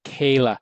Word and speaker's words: Kaella: I just read it and they say that Kayla the E is silent or K. Yeah. And so it's just a different way of spelling it.